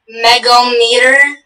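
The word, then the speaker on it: megohmmeter: Our word is megometer. Megometer? Megometer. Megometer. May I have all the information? The word is pronounced megometer.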